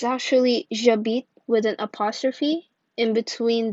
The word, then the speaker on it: j'habite: Instead of saying je habite, it's pronounced j'habite, and it gives a much smoother sound.